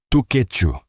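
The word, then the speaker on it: Tshechu: Outro destaque é o festival Tchu. Pronuncia-se Tuquetchu, famoso por apresentar a dança.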